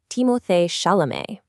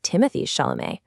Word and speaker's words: Timothée Chalamet: In French, it's pronounced timoth shalé. But he said himself that he felt it could sound a bit pretentious in English-speaking contexts. So he often just goes by Timothy Shalamé.